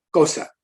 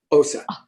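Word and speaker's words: Xhosa: de África, y entonces la pronunciación correcta, más o menos correcta, porque yo no hago los cliques muy bien, pero la pronunciación de esta palabra, el nombre de este tribu es, otra vez, cosa, osa, osa, así.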